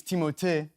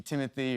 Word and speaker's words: Timothée: Well, honestly, it's Timothée. But I would not oblige you to say it like that, and it could be Timothy or Timmy or Doug or It's Alan.